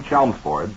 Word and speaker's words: Chelmsford: to inform you that the name Chelmsford is pronounced exactly as it is spelled. The L is not silent.